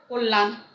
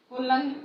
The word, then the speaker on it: কল্যাণ: যেমন দেখো তোমার কল্যাণ, কল্যাণ, কল্যাণ। হ্যাঁ, মানে এই মধ্য জফলা এই ব্যঞ্জনকে দ্বিত্ব করলো, মানে দুইবার উচ্চারণ করলো।